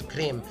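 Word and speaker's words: Крым: Not cream as in Crimea, because cream is how you say Crimea in Russian.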